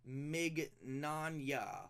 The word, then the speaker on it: Mignogna: By the way, it's pronounced Mignogna, like lasagna.